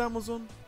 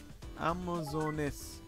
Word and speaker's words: Amazoness: Is it called Amazon? Am I saying it wrong? Amazoness. Damn it. I'm saying it wrong, but I'm going to call it Amazon.